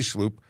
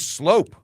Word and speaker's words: Sloop: That Billy Sloop. Pronounced like, it's slope. It's slope, not sloop. Why did I think it was, okay. Silent U? Well, interesting.